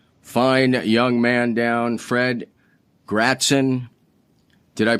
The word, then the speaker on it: Gratzon: Today's guest, speaking of easily, and I've had to track this fine young man down, Fred Gratzon. Did I pronounce that correctly?